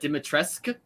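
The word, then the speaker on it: Dimitrescu: how do you say her name justin uh dimitreska yeah this is the sexy vampire lady from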